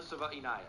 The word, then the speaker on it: Savaiinaea: It's pronounced Savaiinaea. Jonah Savaiinaea.